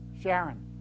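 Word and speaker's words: Charron: The head of this company, it's Paul Sharon, or Karen, how does he pronounce it? Sharon.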